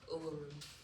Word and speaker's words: Uluru: And is it pronounced Uluru or Uluru? Uluru. Uluru.